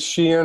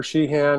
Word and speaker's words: Sheehan: pronounce your last name it is it is sheehan or shihan there was always a a feud between my parents they pronounced it differently but however you want to say it thank you thank you